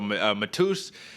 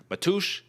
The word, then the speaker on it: Mateusz: one so i guess his name is matthew in like polish so like matush matus gamrat that's the